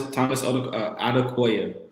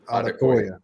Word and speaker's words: Odukoya: Odukoya, is that how you say his name? Odukoya? Thomas Odukoya. Odukoya.